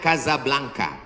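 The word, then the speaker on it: Casablanca: Ibu kotanya tulisannya Casa Blanca. Cara bacanya Kazablanka.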